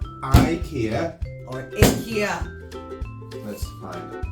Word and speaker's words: IKEA: is pronounced slightly differently Swedish pronunciation which is something like Ikea Ikea 88 Mr Ikea